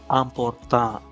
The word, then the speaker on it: important: So important is pronounced as important, important, important. The stress is always soft at the end of a word in French. Always place the stress softly at the end of a word. Important.